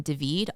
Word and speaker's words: David: We had just crossed the border into Panama and it was from Devid all the way up to Bokeete. And David is spelled like David.